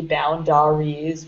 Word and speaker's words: boundaries: So I know that there's an A there. It looks like it would be boundaries, but... A is actually silent. Don't ask me why.